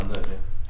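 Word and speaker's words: Unown: Oh, unknown. Oh, why did I think it didn't have a K in it? It doesn't, that's not my spell there, but it's pronounced unknown.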